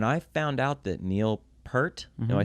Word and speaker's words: Peart: your face, When I found out that Neil Peart, am I saying his name right? Because I've heard people pronounce it different. I've heard Peart, Peart. Neil Peart.